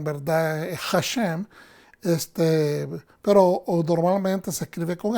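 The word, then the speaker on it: השם: Hashem. Pero normalmente se escribe con H, que es la manera o la transliteración en inglés. Pero en español, por lógica y por fonética y sonido, es con J, Hashem.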